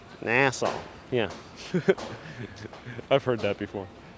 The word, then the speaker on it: Nassau: New Yorkers pronounce NASA NASA with a long a. Nassau. Nassau. Nassau.